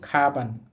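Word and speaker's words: かばん: তো আমরা এটাকে খ এর মত উচ্চারণ করব। কাবান না পড়ে এটাকে আমরা পড়বো। খাবান।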